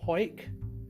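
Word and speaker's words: Hawick: aged 41 he's Scottish she's from hike that's how you pronounce it hey JW I seek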